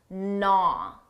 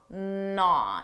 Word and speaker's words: gnaw: First of all, notice that silent G gnaw gnaw it starts with a an N sound not to not.